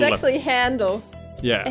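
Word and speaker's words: Handel: It's actually handle. Yeah. A handle. No, but it's like fly off the handle, and it's like the German composer. Yeah, I know. It's pronounced handle.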